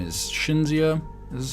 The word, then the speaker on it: Cinzia: This is, I think her name is Cinzia. This is how she pronounces it.